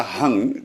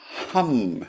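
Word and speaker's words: हूं: This is not a hung. This is a hum, like this.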